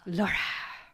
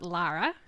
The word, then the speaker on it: Laura: Laura. Not Lara. Laura. Yeah. I had an ex-coworker who I mistakenly pronounced her name Laura, and she's like, it's not Lara, it's Laura.